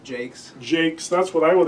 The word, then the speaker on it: Jaques: think in the restoration I pronounce it Jake.